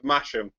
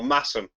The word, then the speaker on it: Masham: Theakston's most famous ale takes its name from the seal of the peculiar court of Masham, or Massam, depending upon how we pronounce it, which was granted back in the 12th century.